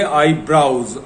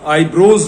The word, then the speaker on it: eyebrows: ये जो दो हमारी भवें हैं इनको हम कहेंगे आईब्राउज, आईब्रोज नहीं, EYEIBROWS, दोनों को मिलाया तो ये बना आईब्राउज, मतलब भवें।